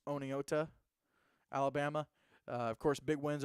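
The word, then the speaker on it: Oneonta: Lighthouse Homeschool out of I always say it wrong and I get made fun of for saying it wrong. So I'm gonna pronounce it the way that it looks. Oneota, Alabama.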